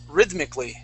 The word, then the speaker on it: rhythmically: Now this word here is rhythmically. Rhythmically. Rhythmically. Good. One more time. Rhythmically. Rhythmically. Rhythmically. Okay. The accents at the beginning. Rhythmically, not rhythmically, but rhythmically. Right here on that Y, that first Y.